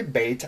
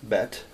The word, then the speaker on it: bet: the first letter bet some people say bait I know I learned it bet B et some people